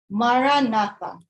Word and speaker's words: Maranatha: We recommend the ancient Christian prayer word, Maranatha. Say it as 4 equal stressed syllables.